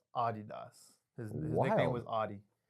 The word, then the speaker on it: Adidas: Oh so it's pronounced Adidas.